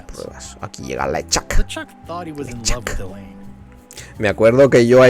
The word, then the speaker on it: LeChuck: Hasta que no llegaron las voces al mundo de los videojuegos, no descubrí que se pronunciaba LeChuck, claro.